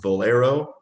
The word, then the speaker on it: Valero: there's so i'm saying it right is it valero yeah sounds like the gas station but not